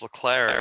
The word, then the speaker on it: Leclerc: say it but Charles declare the 24 year old for Ferrari Charles Leclair is correct nice job for this